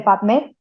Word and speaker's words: PubMed: Tal cual se escribe PUB, publicaciones, las tres primeras letras de la palabra publicaciones, MED, médicas, las tres primeras letras de la palabra médicas, PubMed, se dice PubMed.